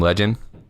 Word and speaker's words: Legin: We're collabing with this rapper named Legend. His name is spelled LEGIN.